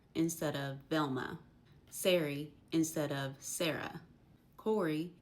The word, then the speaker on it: Velma: Velmer instead of Velma.